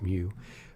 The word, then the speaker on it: mu: here and then mu and that's how it's pronounced mu the population mean um n equals sample okay